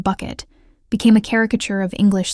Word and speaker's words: Bucket: Hiasin, with her insistence on pronouncing her surname as Bouquet rather than bucket, became a caricature of English social climbing, but in Rout's hands, she was never merely a cartoon.